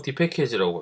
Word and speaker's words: dpkg: 쓰시거나 데비안 계열에서는 dpkg, 이걸 보통 dpackage라고 보통 발음을 해요.